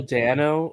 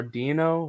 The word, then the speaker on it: Dano: Paul Dano or Dino, however you pronounce his Dano, last yeah.